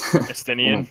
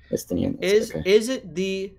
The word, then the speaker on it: Estinian: I don't know how to pronounce it, but the new Dragoon is something else. Estinian, yeah. Estinian.